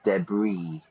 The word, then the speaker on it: debris: Notice the pronunciation there, we don't pronounce the S, debris, looking for a new shell.